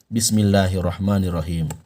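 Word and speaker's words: بسم الله الرحمن الرحيم: Maka cara baca Bismillahirrahmanirrahim yang benar adalah Bismillahirrahmanirrahim. Perhatikan, Bismillahirrahmanirrahim. Bukan dibaca Bismillahirrahmanirrahim. Kurang tepat. Yang tepat adalah Bismillahirrahmanirrahim.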